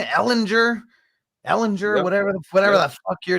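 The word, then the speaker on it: Ehlinger: Ellinger, yep.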